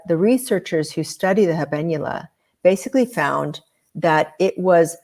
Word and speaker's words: habenula: to be intimidated um the habenula is spelled ha a b n u l a i mean I'm just proud of myself that I said it right I know right like